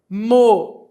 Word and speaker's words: moinho: Moinho. Moinho. O o se separa do i.